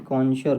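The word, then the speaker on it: connoisseur: विशेषक निपुण दक्ष और पारखी को बोलते हैं कशर क्या बोलते हैं दोस्तों कशर स्पेलिंग है सी ओ सी ओ डबल एन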